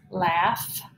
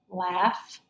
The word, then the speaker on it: laugh: these words here okay we have words here that have GH at the end of the word and they're going to make that F sound okay so this word is laugh right with that Au